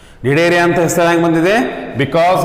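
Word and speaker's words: Cnidaria: That is why the phylum is also called as Nidaria. This phylum is also called as Nidaria anta kariತೀವಿ. C is silent here. Nidaria anta ಹೆಸರು ಹೆಂಗೆ ಬಂದಿದೆ?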